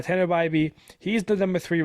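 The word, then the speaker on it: Bibee: two right now Tanner byby I'm pretty sure it's house pronounced I've been calling it bab BB I think uh Tanner byby he's the number three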